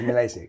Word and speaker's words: Milacci: Milacci. Yes. Is that Italian? Yes, it is Italian, but we do not pronounce it in the Italian way, obviously. Which would be Milacci. Milacci, yeah. Right, but you're Milacci.